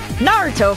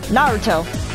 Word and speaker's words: Naruto: Like, let's take, Naruto, for example. Obviously, in the correct way to say it is Naruto. And yet, I've heard people in the States say Naruto! Naruto! Naruto!